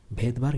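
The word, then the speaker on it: Svedberg: তো এটা এস দিয়ে শুরু, কিন্তু এসটা সাইলেন্ট, এখানে উচ্চারণটা ভেদবার্গই হবে, ভেদবার্গ ইউনিট।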